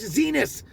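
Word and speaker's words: Xinis: Judge Zenus RHYMES WITH PENIS.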